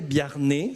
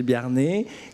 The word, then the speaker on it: Biarnet: Ensuite, je donnerai la parole à Daniel Biarnet, ça se prononce comme ça, Daniel Biarnet, qui lui représente l'Association française des trésoriers d'entreprise.